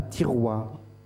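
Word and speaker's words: Thiaroye: Celle à Tiroua. À Tiroua. Oui, c'est dans la banlieue de Dakar. Alors ça s'écrit T-H-I-R-O-Y-E.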